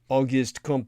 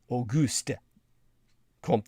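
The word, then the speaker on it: Auguste Comte: to the heart uh aist comp or the correct pronunciation would be AUST comp the 19th century French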